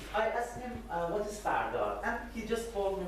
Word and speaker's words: Firdar: It's pronounced Fardar. There are lots of pronunciations: Firdar, Firdaria, Firdaria, and Firdar, Fardar, Fardariyat.